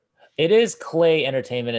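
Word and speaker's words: Klei: So Clyde, Mark of the Ninja, especially Clay. Sorry, I keep pronouncing it Cly. Clay is actually a pretty decent developer.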